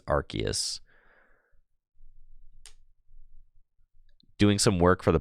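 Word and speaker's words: Arceus: fine giggling bubbles says the way people pronounce archus wrong arus I know I I used to say rcus for a long time but apparently it is archus doing some work for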